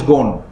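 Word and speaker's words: Ghosn: pronunciation is it's called is written as Goshen but the pronunciation is gone okay so car is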